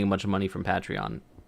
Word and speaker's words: Patreon: bunch of money from Patreon. It's Patreon, not Patreon. That's why no one's gonna donate if we don't pronounce it right.